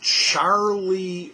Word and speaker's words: Charly: a copyright strike um it's charlie records and it's spelled c-h-a-r-l-y it's a british record